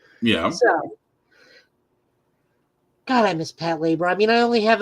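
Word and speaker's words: Patlabor: How do you pronounce that? Pat Labor? Pat Labor.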